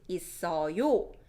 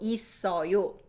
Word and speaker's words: 있어요: And if you wanna make it polite, 있어요 and 없어요. Listen to the pronunciation. Remember linking sound? This double shield underneath gets pronounced when it's followed by 이응. So 있어요 or 없어요.